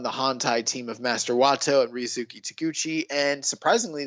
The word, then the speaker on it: Wato: No, Wato, bro, Wato. You mispronounced his name. His name is Master Wato.